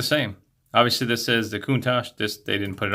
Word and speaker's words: Countach: right there and it is molded after the Countach I believe is the way you pronounce the Lamborghini that's molded after and it